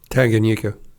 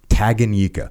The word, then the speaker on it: Tanganyika: giant Lake how do you say that Lake Tanganyika taganyika so Tagan yika I'm gonna brutalize that one 450 miles long 50 miles wide tag Anika second deepest lake in the world and it's